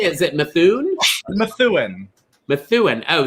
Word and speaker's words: Methuen: Methuen. Oh, so you do pronounce all the letters.